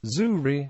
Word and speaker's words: Züri: is in zeric German the name is pronounced without the final consonant zurri although the adjective remains